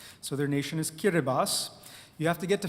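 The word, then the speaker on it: Kiribati: b a TI but the ti at the end is pronounced as an s in their language so their nation is kiribas you have to get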